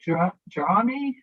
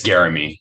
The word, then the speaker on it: Garamy: Jarami? I'm sorry, sir. Did I say it right at all? That's Garamy. Thanks so much, Thank Senator.